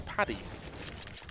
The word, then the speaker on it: PDY: And okay, their manager has actually pronounced PDY as Paddy.